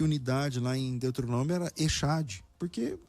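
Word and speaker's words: אחד: Só que o CH do hebraico não se pronuncia como o CH do português, como na palavra chapéu. O CH do hebraico, ele vem do alemão. E o CH do alemão é o R.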